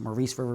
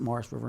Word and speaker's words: Maurice River: And you might want to pronounce it Maurice River. We pronounce it Morris River in southern New Jersey.